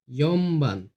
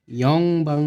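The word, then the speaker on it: 四番: কারণ ন আর ব যখন একসাথে হয়ে যায় তখন এটার উচ্চারণ হয় ম হিসাবে। ঠিক আছে? সামবান। ৪ হবে ইয়মবান। এটাও সেম, ইয়ংবাং হবে না, এটা ন না, ইয়ন হবে না, এটা হবে ইয়মবান।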